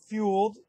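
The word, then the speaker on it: Fuld: saw ryan dempster being dropped this week Sam fuelled that's how you pronounce it was dropped but added today by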